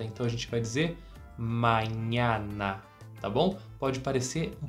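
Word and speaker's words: mañana: tô te dizendo porque a pronúncia dessas letras as todas Tem que ser aberta Então a gente vai dizer manhana Tá bom pode parecer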